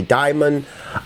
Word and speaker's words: Daemon: I've always said it's still pronounced Demon, even though it looks like Daemon, but I've heard people say Daemon.